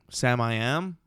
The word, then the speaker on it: Samiam: Sam I Am? Samiam. Sam? I don't know if it's pronounced Sam-I-Am. It's Sam I Am. But it's one word.